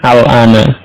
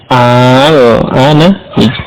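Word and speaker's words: آلْآنَ: pada alif lam ini, al-ana. Ya, dua hamzah bertemu, hamzah istifham, kemudian diikuti hamzah wasal pada alif lam, maka digabungkan dalam penulisan, kemudian diganti dengan mat seperti ini. Al-ana, jadi membacanya panjang ya.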